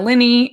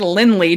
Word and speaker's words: Linney: cornyn for the crown laura linney and they said lindley did you like that so there